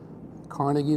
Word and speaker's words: Carnegie: Um there was uh Carnegie Carnegi as they pronounce it.